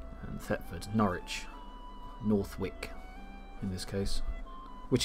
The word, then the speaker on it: Norwich: Yeah, how much place names have changed and how much some have stayed the same, like Kent spelt with a C instead of a K, and Thetford, Norwich, Northwick in this case, which is, yeah.